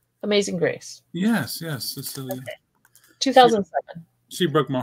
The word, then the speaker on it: Cecilia: Cecilia? Am I pronouncing that right? Amazing Grace. Yes, Cecilia.